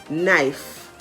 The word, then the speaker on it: knife: in the word knob the k in the word knife the l in the